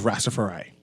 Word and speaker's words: Rastafari: Just now, we had members of the Royal Bahamas Police Force on, but now we have some representatives from the host of Rastafari. I pronounced that right?